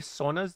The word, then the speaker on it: sauna: works white hey you said that how many sonas did you have uh almost there's like 50%